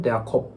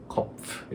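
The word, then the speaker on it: Kopf: 먼저 머리 부분 은 'kuff' 입니다 . 여기 서 'PF' 발음 이 정확 한지 확인 해야 합니다 . 'kuff' 가 됩니다 .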